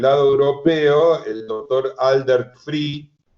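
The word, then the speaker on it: Vrij: Y por el lado europeo, el doctor Aldert Free, que se escribe, dado que es holandés, B corta, R, I y J al final, se pronuncia Free, Aldert Free, que dirige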